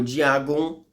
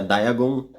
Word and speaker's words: Dagon: os poderes dele bom o diagon ou dagon como é dito é escrito na verdade aqui no Brasil porque se pronuncia diagon ele é um ser